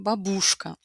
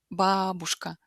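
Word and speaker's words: бабушка: português geralmente pessoas pronunciam babuska. Não sei se você escutou a diferença, a sílaba tônica é a primeira em russo, babuska, enquanto em português brasileiros pronunciam babuska.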